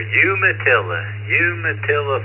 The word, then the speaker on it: Umatilla: Next on the list is KO4QMM, Roger, Umatilla, Florida. I know I butchered that. Tell me what that name is. You were really close there. Umatilla, Florida.